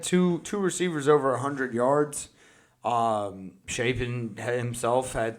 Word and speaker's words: Shapen: Yeah, Blake Shapen.